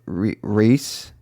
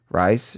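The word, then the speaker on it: Rhys: flag means death with reese i always get his name wrong rice reese darby is so criminally underrated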